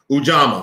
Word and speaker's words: ujamaa: our daily lives okay now this next one is um ujjama ujama now let me make sure i'll pronounce this correctly because i feel like i'm butchering it i want to make sure that i'm absolutely pronouncing this correctly okay let me let me see how i'm pronouncing this ujjama ujama let me make sure let me make sure ujama ujama so i'm correct ujjama had to make